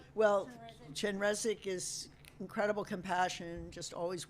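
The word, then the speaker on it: Chenrezig: Chenrazi Chenra character or that aspect is can you talk about well Chenresi is incredible compassion just always weeping and the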